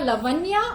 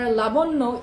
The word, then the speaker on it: লাবণ্য: So it can be Jennifer Lavanya or it can be Jennifer Labonno. Like যদি বাংলায় pronounce করি তাহলে হবে লাবণ্য, আর যদি ইংলিশে প্রনাউন্স